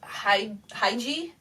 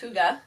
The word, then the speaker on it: hygge: you anything new I always thought it was hi hi G by going how it looks like it's spelt but I actually only recently in the last month or so found out it's actually pronounced hygge and I saw a really interesting definition for